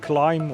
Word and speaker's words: KLIM: Um, recently we've bought these uh this mo um yeah motorcycle gear from an American brand named Climb or Clim. It's spelled K L I M.